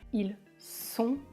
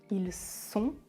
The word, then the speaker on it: ils sont: dessert déser des der et enfin la dernière ils sont ils ont on fait la liaison ils sont ils sont ils ont ils sont ils ont